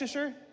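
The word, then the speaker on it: Leicester: How do you say, is that Leicer? Lester.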